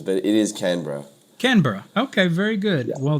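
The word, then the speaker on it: Canberra: no look I've I've heard all sorts of pronunciations but but it is canra canra okay very good well that I am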